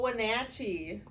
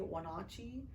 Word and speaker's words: Wenatchee: And good old Wenatchee. Or some people, from other places, they say Wenatchee, and they cannot pronounce it gets such a hatchet job.